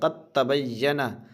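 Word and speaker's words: قد تبيّن: जैसे दाल में जज़म है, ता में तशदीद है तो क़त बोलना है, काफ डायरेक्ट ता को पकड़ेगा। क़द तबय्यना, दाल यहाँ पे हज़फ हो जाएगा, दाल साइलेंट हो जाएगा।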